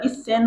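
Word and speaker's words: 一千: सेन अब सेन पनि भन्छ यसलाई चाहिँ हजार भन्नु पर्यो भने इ सेन भन्छ है। यसलाई सेन अथवा अब सेन हजार भन्दा सेन भने पनि हामीले उच्चारण गर्दा इ सेन हुन्छ फेरी है।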